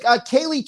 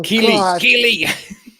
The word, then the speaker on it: Keely: She's been going like Kaylee talked to, I said her name wrong. Keely. Oh, Keely.